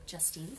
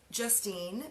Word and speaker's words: Justine: I always tell people, like, just say Justine. Don't call me Justin, and we're good.